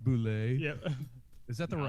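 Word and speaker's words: Bulleit: It's pronounced Boulet.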